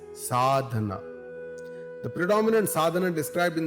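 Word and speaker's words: साधन: These several means are also called sadhana, pronounced as sadhana.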